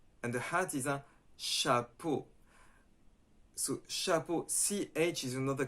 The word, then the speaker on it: chapeau: And then you can say, okay, so in English it's ch, in French it's sh.